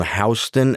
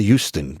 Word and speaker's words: Houston: Around the, and it's really Houston, but we call it Houston in New York, but it's pronounced Houston.